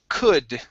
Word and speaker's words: could: good next up is could okay the l is silent we do not pronounce it very nice uh this